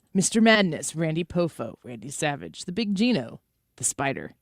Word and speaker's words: Savage: You mispronounced Savage. Oh, Randy Savage. Yeah, he said Savah.